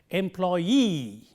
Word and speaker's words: employee: If a word ends in double E, the stress is on the last syllable of this word.